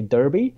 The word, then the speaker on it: Derby: They can find me geographically in Derbyshire, or not far from Derby, or as the Americans say, Derby.